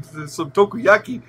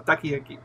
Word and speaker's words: takoyaki: Yeah, no, it's food, but you're pronouncing it wrong. Takoyaki.